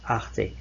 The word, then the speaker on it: Arte: The next channel we've got down the line here is Arte, and this is how it's pronounced, Arte.